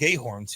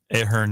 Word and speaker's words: Ahern: I'm gonna stay in Blake Ahorn's here. Is that how you pronounce his last name? Ahern, yeah. Ahern, yeah.